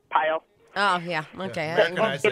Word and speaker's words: Pyle: Well, I would have gone more Frenchy, like Pael. Well, yeah, that's how it's actually supposed to be pronounced, but when you get here, people go Pyle.